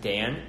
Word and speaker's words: Daan: my name is it's my first name is pronounced like how you pronounce it with one ace of Dan and then my last